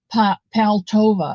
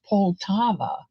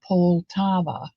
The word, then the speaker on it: Poltava: Those for a long time I called Olga Paltova, and it's not, the A doesn't come first. It's Poltava, not Paltova. It's Poltava.